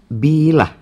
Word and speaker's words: bila: Očigledno je da glagolski oblik bila ima akcenat na prvom slogu, ali imenica aprila ima na drugom.